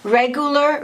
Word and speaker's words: regular: Regular, regular.